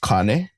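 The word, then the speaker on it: kāne: So, the first one it would actually be pronounced kane.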